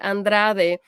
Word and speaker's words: Andrade: We had Andrade, that's how you say it, Andrade doing the Andrade figure el eight.